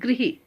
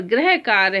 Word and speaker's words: गृह: और जो घर के लिए दिया गया उसे ग्रह नहीं बोलते, उसे बोलते हैं गृही, उसे बोलते हैं गृही। तो अगर अशुद्ध शब्द में यहाँ पर ग्रह कार्य है तो शुद्ध शब्द में ग्रह कार्य नहीं बोलेंगे, बल्कि हम क्या बोलेंगे, उसे गृही कार्य, क्योंकि उसमें री की मात्रा लगी है। और जहां री की मात्रा होती है बच्चों, वहां उच्चारण में री निकलना, उच्चारण में री आना जरूरी है।